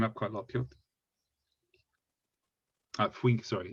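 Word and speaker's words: 雰囲気: Yeah, funiki is actually the proper spelling, but for reasons that I don't know, this is pronounced as fuinki.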